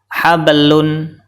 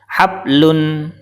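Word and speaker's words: حَبْلٌ: karena tidak dipantulkan kemudian contoh yang kedua cara baca yang benar adalah hablun hablun cara baca yang salah adalah habllun salah karena huruf ba tidak dipantulkan kemudian huruf Qalqalah yang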